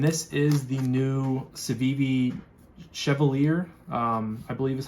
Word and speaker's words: Chevalier: So like I said, this is coming from Justin over at White Mountain Knives, and this is the new Civivi Chevalier, I believe is how you pronounce it.